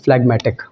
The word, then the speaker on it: phlegmatic: उल्टा करेंगे तो जो हमेशा शांत स्वभाव का व्यक्ति है, इंग्लिश में ऐसे व्यक्ति को हम लोग बोलते हैं फ्लैग्मेटिक।